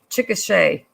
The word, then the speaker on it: Chickasha: Chickasha. Only people in Oklahoma can mispronounce Oklahoma City names.